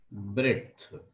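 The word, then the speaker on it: breadth: उसको हम बोलते हैं ब्रेथ कैसे पढ़ते हैं ब्रेथ बी आर ई डी अलग पढ़ेंगे फिर टी एच अलग पढ़ेंगे स्पेलिंग में बी आरई एडी है लेकिन पढ़ते ऐसे बथ ठीक है तो यह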